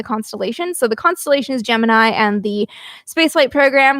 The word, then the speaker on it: Gemini: screen names fun in 1965 NASA published a blurb in a newspaper clearing up that Gemini was to be pronounced like jiminy as in jiminy exactly I actually have a